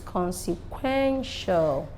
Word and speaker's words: consequential: consequential I told us words that end with t-i-a-l are stressed at the penultimates so this is consequential let's see next is